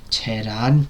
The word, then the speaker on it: Tehran: In today's video I've got for you a review of the 2025 Indian Hindi language film Tehran. That's how you pronounce it.